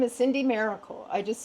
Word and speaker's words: Maricle: And is it pronounced Marle or Miracle? How do you My name is Cindy Miracle. I just say Miracle.